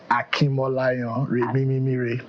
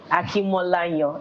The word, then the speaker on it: Akinmolayan: Well, there's a tone to how you pronounce it. Let's hear it. Akinmolayan. Akinmolayan. It's Yes. quite different in meaning. I know, right? The way I said you it. switch up the tones and it just changes.